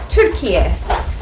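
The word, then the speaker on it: Türkiye: say turkey actually um the right pronunciation for turkey is turkey so um when people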